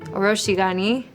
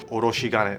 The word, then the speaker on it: oroshigane: Gabi is going to be using an oroshigane. This is actually the tool used to grate radishes down into a smooth consistency. Oroshigani. Chef Taka can definitely help brush out my pronunciation on that. Oroshigane.